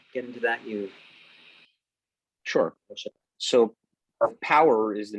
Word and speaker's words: POWUR: Power is a renewable energy business. They're a solar contractor in the United States. The company's name is spelled POWUR. California based, been in business a little over 8 years.